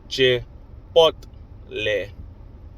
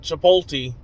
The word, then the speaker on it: Chipotle: Chipotle. Chipotle. But at the same time, I've heard many old white folks call it Chipoti. Chipoti. Chipoti. And it's cringey when y'all say Chipoti when it's literally says Chipotle.